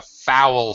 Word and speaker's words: foul: And last one, pronunciation, Mustafa, foul smelling. Foul. Owl. Ow. Ow. Foul. Foul smelling.